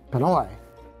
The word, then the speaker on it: Pinoy: Pinoy? Other than it rhymes with Hanoi, what the hell is that?